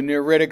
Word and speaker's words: neritic: Remember the word near is in there, neritic technically, but if you mispronounce it a little bit, it'll help.